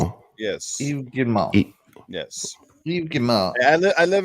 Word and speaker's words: Yves Guillemot: Yves Guillemot. Guillemot. Yes, that's how you pronounce it. Yes. Yves Guillemot.